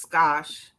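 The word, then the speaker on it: Gosch: name again the last name g-o-s-c-h and it's pronounced scotch yeah uh lisa put it in her in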